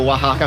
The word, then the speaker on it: Oaxaca: Si capisce che ci capisce perché ha pronunciato wahaka correttamente, cosa che non fa praticamente nessuno.